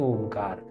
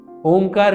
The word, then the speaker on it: ओंकार: ओंकार करते समय सबसे पहले गहरी सांस लेनी है, और सांस को बाहर लाते हुए ओंकार का उच्चारण करना। अ, उ और म तीनों को पर्याप्त समान समय देना है।